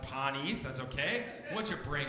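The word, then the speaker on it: panis: teach was a latin word for bread it's pronounced pawnees and it's spelled p-a-n-i-s and i used to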